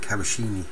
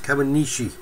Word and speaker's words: Kawanishi: him, rather than Kawanishi, because I keep calling it Kawashini, but it's Kawanishi Shodenkai, and even at that I don't think my pronunciations are all that good, but George works.